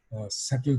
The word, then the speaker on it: subtle: करते हैं और बहुत सटल तरीके से। ये सटल का जो वर्ड मैंने यूज़ किया है वो उसकी स्पेलिंग है SUBTLE, इसमें बी साइलेंट है।